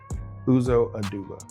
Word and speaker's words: Aduba: And Oduba that's or Aduba? Uzo Aduba. It's with an A.